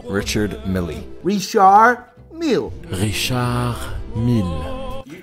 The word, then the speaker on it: Richard Mille: doing this on purpose pateka felipe patek philippe richard milley richard mill you called it richard milay for a while noah never richard milay richard